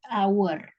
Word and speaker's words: hour: lebih terdengar bunyi vokal jadi hour dan dibaca hanya itu nggak dibaca dan our jadi pakainya huruf kan ya